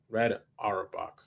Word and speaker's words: Red Auerbach: Red Auerbach. Okay. Yeah, that's how you pronounce it.